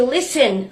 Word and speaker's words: listen: No tea is heard in fasten, hasten, which make them rhyme with arson, mason. The same applies to listen, soften, nasty, hasty, faster, chaster, master, plaster, taster, waster.